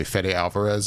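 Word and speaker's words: Fede Álvarez: up for the movie in front of me fedy Alvarez is how you say his name yes director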